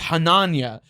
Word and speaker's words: Hananya: It's Hananya, and it's spelled like Hananya. Like the. But you should put a tilde in there for one of Hananya. The last end Because it's an NY.